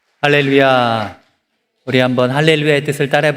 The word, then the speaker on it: 할렐루야: 할렐루야를 할 때 우리가 띄어쓰는 게 중요합니다. 히브리 학자들은 할렐루야 그러면 루야라는 신을 찬양하라 이렇게 오해를 할 수가 있대요. 그래서 할렐루야, 할렐루야 이렇게 하는 것이 올바른 그런 발음법이라고 합니다.